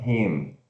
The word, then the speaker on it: him: Então, I am taller than him. A gente vai usar o pronome de objeto him. Então, se escreve H-I-M e se pronuncia H e curto M.